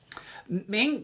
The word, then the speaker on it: Ming: Did I pronounce your last name right? Ming, yeah, it's often very straightforward, and I'm used to people never spelling or pronouncing things correctly, so you did great.